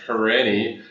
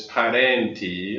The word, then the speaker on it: Parenti: The last name, North Americans will usually pronounce it Parenti, but the Italian pronunciation is Parenti, and it's a word.